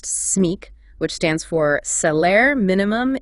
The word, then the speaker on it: SMIC: Now, acronyms take the first letter of each word in a phrase, and you pronounce it as one word. Like SMIC, pronounced SMIC, which stands for Salaire Minimum Interprofessionnel de Croissance, the French minimum wage.